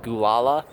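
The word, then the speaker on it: Gualala: I'm currently camped somewhere slightly south of Fort Bragg, somewhere slightly north of Gulala, California, which is an actual place. I assure you that's how it's pronounced.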